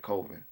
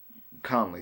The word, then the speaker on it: Conley: Colvin, not I said his name wrong. I said Colvin. Um, Conley, Garyon Conley, gave up 2 touchdowns, but I think those were more so.